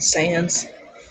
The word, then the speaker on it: Sans: post on tumblr that is it pronounced sands or sons from undertale I just pronounced sans like comic sans that you know how